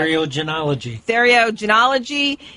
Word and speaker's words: Theriogenology: let me see if I can say this, Theriogenology. How do you pronounce that, Dr. Fleck? Theriogenology.